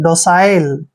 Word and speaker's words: docile: DO का उच्चारण यहाँ पर डो करेंगे और CI को साई पढ़ेंगे ऐसे, साई। जब भी सी के बाद आई आता है तो सी का उच्चारण सै करते हैं, और LE को ले पढ़ना है। डोसाइल, डोसाइल मीन्स होता है